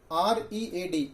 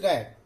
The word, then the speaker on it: read: R-E-A-D. In third form, the pronunciation of this word is read.